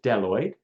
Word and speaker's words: bdelloid: The kinds of rotifers that that Levenhawk first saw are these ones called deloid rotifers. The B is silent, so it's just deloid.